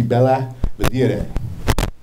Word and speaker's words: Belvidere: And she told me the correct pronunciation would be Bella Vedere.